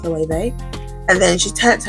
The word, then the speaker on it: Loewe: And I was like, it's actually pronounced Loewe. And then she turned to her daughters like, she said Loewe, who do you think she is? It's not Loewe, it's Louis.